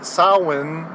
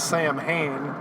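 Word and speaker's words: Samhain: of from yes from Ireland yes which is Sinn if you want to pronounce it more Irish Sinn yes but most people would know it as Sam Hayne and in this episode they just say sam ha so whatever the Irish it's a bunch of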